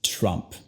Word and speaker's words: Trump: Y al final no es Trump, es Trump. Con la T haces el sonido más marcado. Con esta letra no toques a tus dientes como lo haces en español. Luego tienes la R gringa y la U que se convierte al sonido schwa.